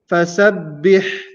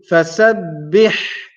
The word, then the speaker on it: فسبح: The first letter is fa. Fa is pronounced using the lips. As we mentioned before, sin, sa, pronounced using the top tip of the tongue. And the tongue has to remain inside and not come outside. Sa. And then comes the letter ba with a shadda.